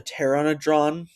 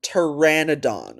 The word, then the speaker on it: pteranodon: Did you just call it a Terrannadron? Yeah, he did. Um I'm sorry if I keep pausing to correct the pronunciation, but hey, that's literally my job kind of. Yeah. Um um it's pronounced pteranodon or let me just